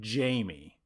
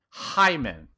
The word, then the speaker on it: Hyman: This wonderful human I've been calling Jamie. And the dogs agree that is wrong. Yeah, they do. But I've learned since listening to his recording that I've been saying it wrong. And he deserves not only a million thank yous, but he deserves me to say his name right.